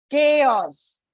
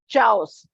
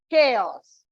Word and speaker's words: chaos: the example of this it is pronounced as chaos it is not Chows chain chin chaos so when you have